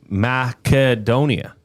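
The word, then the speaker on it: Македонија: Oh, in Macedonia, uh, the country's name is pronounced roughly as madonia. Oh, really? With the stress on the third syllable do and a clear hard K sound, not an S.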